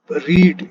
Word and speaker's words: read: हैज लग जाएगा और रीड इसकी थर्ड फॉर्म आएगी। स्पेलिंग आपको पता वही होते हैं, READ, लेकिन ये थर्ड फॉर्म है। इसको पढ़ेंगे रेड।